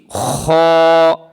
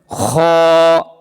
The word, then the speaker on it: خ: খ। আবার বলেন খ। এই অক্ষরটার নাম হচ্ছে খ। খ অক্ষরটা গলার শেষ ভাগ হইতে, অর্থাৎ থুতনির সাথে যে লাগানো, এখান থেকে খ অক্ষর উচ্চারণ হয় গলার শেষ ভাগ হইতে।